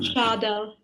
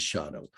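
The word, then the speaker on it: Scheidel: Somebody here online knows exactly how you would pronounce the last name. Maybe Anna. Schadel. There, thank you. Schadel, good. Yeah, so from now on is Schadel.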